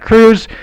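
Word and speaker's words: Kruse: Jack Cruz. Be sure to binge watch him. And that's spelled with a K.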